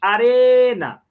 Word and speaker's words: arena: E a palavra arena, a sílaba mais forte, arena. Olha aí, a sílaba mais forte é o re, então aqui eu vou colocar la arena.